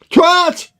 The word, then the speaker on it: twat: moment called Twatgate, and I've seen a lot of Americans pronounce it twat. And no.